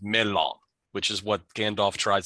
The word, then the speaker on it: mellon: But in Sindarin, which is the name of the language that Tolkien comes up with, it is pronounced melon, which is what Gandalf tries to say.